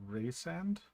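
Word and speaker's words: Rhysand: So I pronounce that Resand. actually, if you're which using make- it like John Rhys Davies, it should be Raysand. I pronounce it think.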